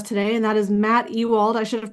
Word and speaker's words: Ewald: This is Rachel Marshall and Bruce Wener and we have a special guest with us today and that is Matt Ewald. I should have pronounced or asked about the pronunciation of your name in advance.